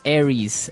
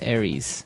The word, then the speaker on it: Aries: And u So it's pronounced Aries. Aries.